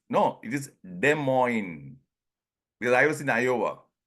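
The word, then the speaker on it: Des Moines: you mean de Mo then only I realize the S is silent it is De Mo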